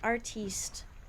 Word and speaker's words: artiste: I'm somewhat of an artiste now that's how I know I'm not like my mother she hates that word and I say it to bug her I go it's French that's how they say it it's French foreign how do we get